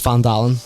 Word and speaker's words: Valdoleven: I also realised I was pronouncing the name of the town wrong. It's Valdoleven.